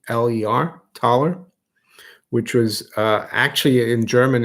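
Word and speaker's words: Thaler: Tyler th l ta th e le are taller which was actually in German it's a taller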